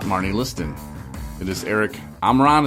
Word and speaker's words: Omron: It is Eric Omron. Is that how you say your last name? Yeah, Omron, you said it right.